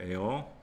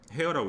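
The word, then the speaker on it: heir: 엔드 되어 에어라고 있습니다. 에어. 헤어라고 읽지 않고 왜요? H가 소리가 안 나요.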